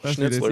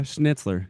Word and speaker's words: Schnitzler: many people Miss name it's pretty simpl schnitzler yeah schnitzler schnitzler you can say it we can all say schnitzler a 1922 noela before